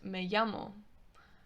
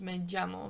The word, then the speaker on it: me llamo: with english spanish teachers they will teach you that it's me llamo which in peninsular spain is not correct it's a g sound mid-jammer very soft g sound it sounds very similar to the letter y which we'll get into